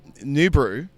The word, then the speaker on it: Noobru: I have got so many different talking points about New Brew.